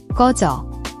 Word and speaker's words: 꺼져: The is a tense, double K sound, like in sky but without the S, your throat should be tense. The yo vowel is like yo in yogurt.